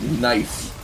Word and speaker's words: Gneiss: But Chris Wilson found that mob and pronounced it, and apparently it's supposed to be pronounced nice.